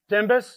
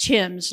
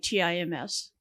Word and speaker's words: Timbus: Timbus? It's just Tim's, like T-I-M-S. Tim's. So the B is silent.